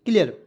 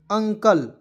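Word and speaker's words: uncle: एन सी एल ई तो ंकल नहीं पढ़ेंगे दोस्तों इसे क्या पढ़ा जाएगा अंकल क्या पढ़ा जाएगा दोस्तों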